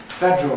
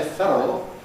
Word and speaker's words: federal: Federal, again you hear Americans say federal. Americans don't seem to go in for compression quite as much as we do.